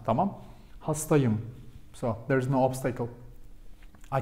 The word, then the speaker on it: hastayım: We use helper sound here because we avoid to pronounce it ben hastaım. Ben hastaım. Something is wrong, right? But it should be like ben hastayım.